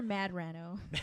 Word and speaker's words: Medrano: Right We have the lovely Gloria Medrano. Hello. Did I pronounce that right? Oh, no. It's okay. Doesn't matter. No, but I prefer Madrano.